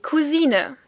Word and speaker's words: Cousin: Der Cousin, the male cousin. Der Cousin. Funnily enough, in this case, the French pronunciation is still considered the correct one in German too.